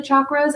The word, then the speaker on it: chakra: of that is the energetic anatomy called the chakra system and if you ever uh wondered because maybe you've heard it pronounced both ways you're gonna hear me pronounce